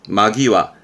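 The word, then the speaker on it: 間際: 발음은 마기와.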